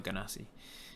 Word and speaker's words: genasi: People call them genasi or ganassi. I say genasi because they spawn from genies. So genie, genasi makes more sense to me.